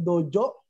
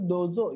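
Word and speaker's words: どうぞ: Jadi kadang orang salah ya, ada yang bilangnya dojo, ada orang bilangnya dozo, tapi yang benar itu dozo ya.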